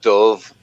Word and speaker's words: Dube: know what you know the bird that flies the dove that's how you pronounce the mate oh dude